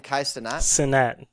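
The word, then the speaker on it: Kai Cenat: He went on Kais, how do you pronounce his last name? Kaisenat.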